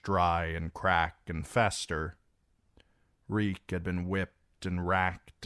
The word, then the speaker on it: Reek: Reek, Reek, it rhymes with meek.